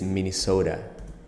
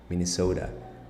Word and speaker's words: Minnesota: TV so they stated Minnesota Minnesota look at the at the T it's pronounced not like a tea or like a d like Minnesota and it's the Flappy